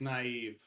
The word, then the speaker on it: naive: Dor bread down underbite would like you to like like you to know that you're pronouncing nave wrong. It's naive.